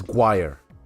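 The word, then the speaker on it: choir: pronounce it totally differently one of my favorite ones is guire c h o i r I think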